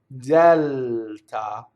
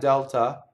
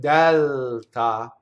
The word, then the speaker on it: Delta: So I have to linger on that L, Dɛlta. It's not Delta, like the airline in English, right? Dɛlta, A.